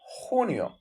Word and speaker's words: junio: May Mao June H remember smooth the J it sounds smooth smooth likees June junio and similar case July